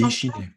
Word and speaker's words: Ishine: Est-ce que c'est Ishine? C'est Ishine, oui.